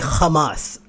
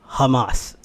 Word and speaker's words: Hamas: really they never say they never pronounce it uh like Hamas it's an H you know it's a Jewish thing people when they speak like in Hebrew a lot of the H sounds are like they use a k